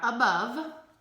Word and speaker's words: above: on our word wall that starts with A, but it sounds like a U. So it is a tricky one because it does say at the beginning and also has that silent E on the end that you can't hear.